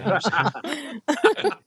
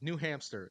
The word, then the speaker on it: New Hampshire: laughing at it, but there are people who probably pronounce it the same way as New Hampster, Yeah, and they right? I can't say was like, hamster. dude, just say New Hampshire, like ham, They're like, hamster, though, Yeah.